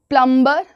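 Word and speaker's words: plumber: प्लंबर प्लंबरबर में बी पढ़ते हो आप प्लमबर नहीं बोलते हैं वैसे कई सारे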